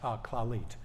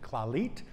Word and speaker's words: Clalit: the health center in in Israel known as claw leet so for those of you don't know it